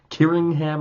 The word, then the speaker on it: Killingham: Now, I'm going with the pronunciation of Killingham. You can also call him Kirinham. Kiringham, I should say.